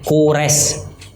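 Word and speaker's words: كورش: Nah, kalau bahasa Arabnya Qurish. Nah, tulisannya Qaf, ada yang pakai Qaf, ada yang pakai Kaf, wawu, ro, shin. Ya, Qurish. Bahasa Arabnya Qurish, tapi bahasa dibacanya Cyrus.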